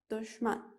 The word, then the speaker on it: دښمن: د ښین لیکل بڼه یو شکل ته ده، خو دغه توری او ځینې نور توري په ځینو سیمو کې په مختلفه توګه تلفظ کېږي. یعنې یوې سیمه کې دغه توری یو شان تلفظ کېږي، په بله سیمه کې بل شان ده. نو تاسو که چیرې زما آواز اورئ، تاسو ګلالي زده کوونکي په کندهار کې دا د شین په بڼه وایي، دشمن.